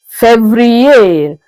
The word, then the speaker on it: février: February is février.